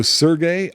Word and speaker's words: Serge: way to go Sergey I say Sergey for krono cross not Serge like a lot of people do I don't know if that ever been settled as to what the right way to say is I hear most people say Serge it just looks like Sergey to me which is an actual